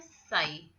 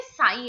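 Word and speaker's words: psi: तो मैंने क्या किया, साई है, साई मतलब इसमें बस साई साई सी सी जैसा प्रोनाउंसिएशन आ रहा है, तो इसको मैंने सी सी ही याद कर लिया।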